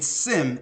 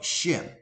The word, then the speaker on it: Shem: or from shim right a Semite is really uh a mispronunciation or mispronouncing shim they're saying Sim instead of shim which means it denotes